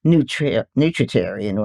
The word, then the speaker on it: nutritarian: Yes, I get half the retreat, and then I still go to the store and shop and cook the vegetarian, nutritarian way, not 100. You pronounce that term nutritarian perfectly, Oh by my the way.